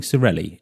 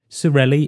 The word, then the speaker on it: Sorelli: on a friday evening cirelli in italian means sisters and the letter e was replaced with the letter i to aid customers with the correct pronunciation of the word the business is still